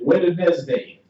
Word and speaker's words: Wednesday: have you ever wondered why they spell it w e DN right like that like why is it w Wes day right it's Odin's day all